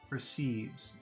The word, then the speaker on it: perceive: Let's look at the final word, perceives, perceives, perceives. Two sounds, two vowel sounds. Are they long or short? Perceive. First one is short, per. Second one is very long, sieves, perceives.